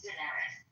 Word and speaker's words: Daenerys: I know, but I just want to but it's Daenerys. Daenerys, I had an extra syllable.